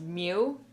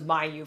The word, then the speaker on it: Myuu: It's pronounced Mew. I thought it was Myuu for the longest time, but no, it's pronounced Mew.